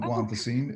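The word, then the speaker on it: guanfacine: that if that's familiar to you you you pronounced it perfectly it's called guantacine and yes it can help and yes emotional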